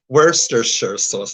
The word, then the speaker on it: Worcestershire: People don't know or don't pronounce it right, but it's not pronounced how it's spelled. It's Worcestershire sauce is how to pronounce it.